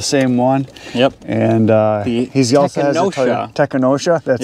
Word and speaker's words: Tekonsha: his vehicle the same one yep and uh technosha that's how you say it yes Prodigy P3